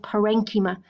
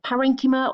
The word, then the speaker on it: parenchyma: is packing tissue called parenchyma and parenchyma or parenchyma depending on how you pronounce it is very unspecialized packing